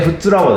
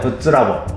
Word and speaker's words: 富津ラボ: はありますかいやフツラボだよフッツラボフッツラボって読むんだよこれその通りですフッツラボと読みます何か他に気